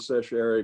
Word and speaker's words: certiorari: I assume writ of certiorari means that they take you to Chancery Court.